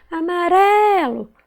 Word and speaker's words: amarelo: Olha, amarelo. Qual que eu demorei mais a falar? Foi o ré. Então, a sílaba tônica é o ré.